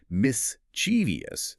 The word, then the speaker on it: mischievous: It's so common that dictionaries give mischievous as an alternate pronunciation, again, labeled non-standard, because linguistic purists absolutely hate it.